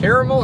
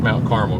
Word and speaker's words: Carmel: This one is pronounced Mount Carmel, cuz we ain't talking about the candy.